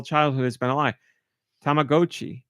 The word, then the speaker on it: Tamagotchi: that is pronounced tagoi as in stop and go oh and it makes sense because it's Japanese but my whole childhood has been a lie tamag GOI tamag GOI all right I can